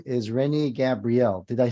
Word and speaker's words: Gabriel: his name is Renee Gabrielle did I say that correctly I just want to listen up I I pronounce it more easily like Gabriel Gabriel okay um all